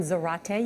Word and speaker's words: Zarate: Juan Zarate. You can always remember how to pronounce Juan's name. It rhymes with karate. Juan Zarate.